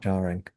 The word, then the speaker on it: jarring: Jarring. It rhymes with father. Jarring. The first syllable.